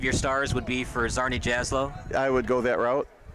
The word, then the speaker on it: Czarni Jaslo: stars would be for zarni jaslow I would go that route when you win 3-1 I think you deserve all three and according to recruit links it's pronounced Charney yaswell would be my number